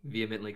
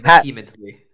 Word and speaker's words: vehemently: I would just like to thank you for saying vehemently correctly. Yeah. Instead of saying vehemently. Oh, I was gonna say, how do you mispronounce that?